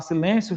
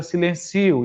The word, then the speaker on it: silêncio: Se você não acentuar silêncio, fica silencio, e por aí vai.